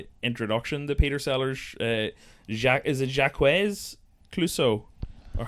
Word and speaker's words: Clouseau: Like, but the opening kind of introduction to Peter Sellers, Jacques Clouseau, or how do you pronounce it? Jacques Cousteau, is it Clouseau?